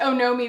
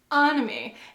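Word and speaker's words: Onomie: earlier this year well first of all I pronounce it Ono me the entire video so that's a fail on my part pretty funny one person who becomes just like I think it's upon me like you know like economy and I was just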